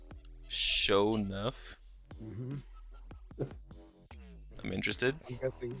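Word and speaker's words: Sho'nuff: My next character is going to be a monk named Shonuff. Show enough.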